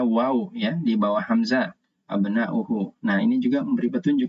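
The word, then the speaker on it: أبناءُ: Di sini ada waw, ya, di bawah hamzah, abna'uhu. Nah, ini juga memberi petunjuk kita bahwa cara membacanya adalah dhammah, abna'u, bukan abna'a, ya, tapi abna'u.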